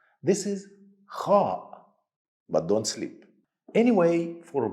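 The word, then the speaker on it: خ: pronounce letter ha again this letter sound has no English counterpart but it is the same sound some people make when they snore while sleeping some people when they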